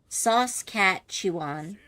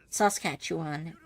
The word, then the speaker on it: Saskatchewan: okay thank you and the other one is pronounced Rulo okay sauce cat chew on Saskatchewan and Rulo all right thank you I appreciate